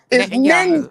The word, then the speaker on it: Netanyahu: Yeah, it's Netanyahu.